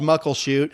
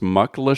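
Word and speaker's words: Muckleshoot: wrote in and said oh it's actually pronounced mlash shoot yeah sorry to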